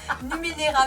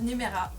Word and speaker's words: Numenera: Allez, Torment, Tides of Numera. Presque ça. C'est Torment, Tides of Numenera, mais moi j'ai du mal.